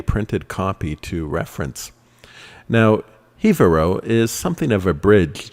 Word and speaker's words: Jivaro: hevero in 3d i had been pronouncing this javarro but phonetics be damned it is actually hevero they actually do say it hebero in the movie but